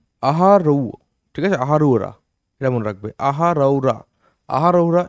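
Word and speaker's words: Ahraura: আচ্ছা, আহারুয়া, ঠিক আছে, সরি এটা আহারুয়া না, আহারৌ, ঠিক আছে, আহারুরা, এটা মনে রাখবে, আহারৌরা, আহারৌরা ইনস্ক্রিপশন, ইট হ্যাজ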